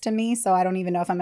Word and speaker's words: Meiwes: look up the name and then have it pronounced to me so I don't even if I'm ever saying [